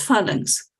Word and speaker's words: phalanx: How do you pronounce this? That is like phalanx. Yes, phalanx.